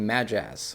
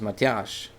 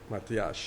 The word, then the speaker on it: Matthias: calling me Matt and start calling me Majaz, or they tried to say my name, but my name is Matthias. Matthias.